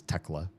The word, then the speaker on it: Tekla: So Theoclea, pronounced the Finnish way, is Tekla.